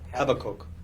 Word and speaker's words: Habakkuk: How do you pronounce Habakkuk? Habakkuk? Habakkuk.